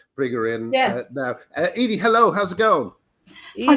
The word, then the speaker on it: Edie: her in yeah now edie hello how's it going hi guys welcome hello fellow haters is is that is that have i pronounced your name right is it edie uh yeah it is right yeah okay what time